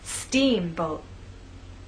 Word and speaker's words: steamboat: Now let's put it all together, making the first part of the word louder, longer, and at a higher pitch. Steamboat.